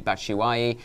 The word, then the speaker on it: Batshuayi: And then we'll be talking about Imminently, Batshuayi, and then talking about Janssen. Excellent pronunciation on Batshuayi.